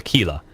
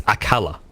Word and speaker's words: Aquila: calling it Aquila and some of them are calling it Aquila. And none of them seem to realize it's Akala. All right? And that's what it was. He was just frustrated at us for pronouncing it wrong.